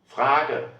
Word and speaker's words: Frage: E am Wortende is pronounced like Frage.